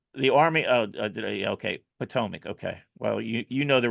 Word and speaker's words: Potomac: But that's the Army of the Potomac trilogy. There's lots of The see what? Potomac. the Army. Oh, okay, Potomac.